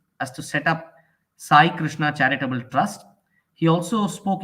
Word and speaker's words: Krushna: He said it should be Krushna. Krishna should be spelled with a U.